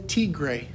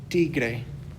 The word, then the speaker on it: tigre: which is el tigre notice there that i still use that little r roll you can say t grey that's okay too but if you can roll your r's at all we're gonna go with tigre oops next up we've